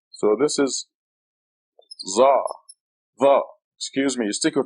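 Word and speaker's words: ظاء: You stick your tongue out. See my tongue? Va. Va. It's a heavy Z with sticking your tongue out. Va. I imagine the English thus would be the closest thing to it.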